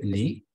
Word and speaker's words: lis: No, on ne va prononcer pas la lettre S. No vamos a pronunciar la S, dice. Simplemente, je lis, tu lis.